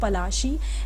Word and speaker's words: पलाशी: Plassey is an anglicised pronunciation of पलाशी एंड the place derive it's name from the पलाश tree.